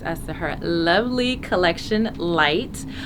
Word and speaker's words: LEYT: soon hi everyone so light is spelled le YT it is the same word that we use every day the word light but it's actually the